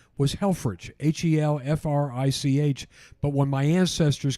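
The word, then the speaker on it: Helfrich: German name but actually my family name was hellfridge h-e-l-f-r-i-c-h but when my ancestors came to the United States in the 1890s their pronunciation was not good in the immigration officer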